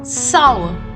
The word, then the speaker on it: sour: say it once more sour the r will be silent and the pronunciation of oh you will be saw it is not SAR and it is not Soul it is sour say it once more